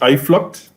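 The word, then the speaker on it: Uitvlugt: first installed at plantation I flood um this dudes not know that that not pronunciation knows most rum nerds have no idea how to say it okay so it's I flocked yeah I thought yes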